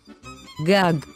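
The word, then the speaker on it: גג: Note that underneath the first gag is the nickled symbol for pronouncing a short a. This symbol is called Petach. That's why we pronounce this word as gag.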